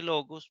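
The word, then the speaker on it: λόγος: Nótese que el acento de logos permanece en todas las formas sobre la misma sílaba.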